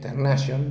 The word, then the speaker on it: Tarnation: Tarnation se escribe. Ternation se dice de un director francés, creo que es.